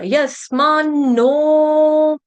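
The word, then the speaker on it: यस्मान्नो: यहां पे डबल न है। ठीक है? आधा न और पूर्ण न। आधा न और पूर्ण न। डबल न। यस मान नो।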